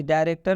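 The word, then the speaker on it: director: जब भी ओ आर एक साथ में आता है वो भी अंत में, तो ओ आर का उच्चारण अ से किया जाता है, मतलब अ की मात्रा से भी होता है।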